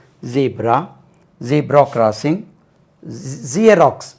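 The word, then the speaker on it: Xerox: z zebra zebra crossing ஜியராக்ஸ் நம்ம ஜிராக்ஸ் ஜெராக்ஸ் இல்லையா ஜியராக்ஸ் ஐ got photo start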